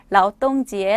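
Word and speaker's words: 劳动节: 될 수가 있어요 자로 동 절은 참고적으로 라우 똥 지에 라고 하고요 국경 절은 코칭 지에 라고 발음을 합니다 그냥 해가 들으시면 됩니다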